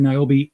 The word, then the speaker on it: Niobe: It's called Niobe, and in fact, you can find his character Niobe in Antarctic Press.